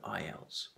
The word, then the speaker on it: IELTS: system it's an acronym IELTS is pronounced as a word IELTS why do you need